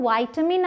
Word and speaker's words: vitamin: इसकी दो प्रोनाउंसिएशंस हैं, बट विटामिन नहीं है इसकी प्रोनाउंसिएशन। या तो वाइटामिन आप बोलें या तो विटामिन बोलें।